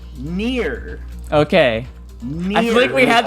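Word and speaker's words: Nier: because of the way i said it it's pronounced near okay i think we had this conversation earlier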